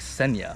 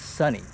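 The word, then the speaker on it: Sonny: pronounced my name wrong it's like senya what the hell's who's senya and it was sunny sunny with an O okay I think he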